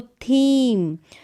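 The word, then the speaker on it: theme: जैसे कि ईव, यहाँ पर भी ई के बाद में एक लेटर छोड़ा एम और फिर ई आया, तो इसका उच्चारण हो गया ई का उच्चारण बड़ी के रूप में। तो थीम।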